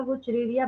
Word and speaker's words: Wuchereria: तो इसका positive agent है, लिख लीजिए, डब्ल्यू यू, जैसी प्रोनाउंसिएशन है वैसी स्पेलिंग है, सुनने में भली थोड़ा ऑकवर्ड लगे बट आसान है, वैसी कोई दिक्कत नहीं है। CHERERIA, वो चिरेरिया हो गया, एंड बैंक्रॉफ्टी।